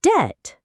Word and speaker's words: debt: People often say thumbb or debt, but the B is silent. It's thumb and debt.